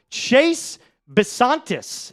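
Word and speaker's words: Chase Bisontis: Chase Basantis is I believe how you pronounce this. Am I getting that correct? That is 100% correct. Chase Basantis, guard out of Texas A&M, 65 315.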